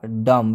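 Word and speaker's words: dumb: यह उच्चारण गलत होता इसका सही उच्चारण क्या होगा दम क्योंकि इसमें बी साइलेंट है क्यों साइलेंट है क्योंकि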